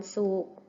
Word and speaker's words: ศุกร์: เดียว กัน นะ คะ วัน ศุกร์ มี ร เรือ การันต์ อ่าน ว่า ว่า วัน ศุกร์ กุมภาพันธ์ มี ทอง การันต์